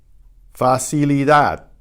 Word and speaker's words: facilidad: Facilidad. The final D is almost silent.